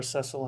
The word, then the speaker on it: Cecil: 4 is about this guy named Cecil or sessile however you want to pronounce it he's a member